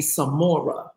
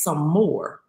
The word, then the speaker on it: Sommore: doing i said um you keep calling me samora i said and my name is some more he was like oh